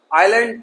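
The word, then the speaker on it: island: चलते हैं एस से साइलेंट वर्ड, इसे पढ़ेंगे आल। गलियारा, आइलैंड, द्वीप।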